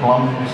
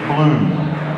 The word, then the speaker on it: Blum: um pronouncing um Mr blum's name wrong for I don't know how many years and it is Bloom not Blum so um although the Kiwi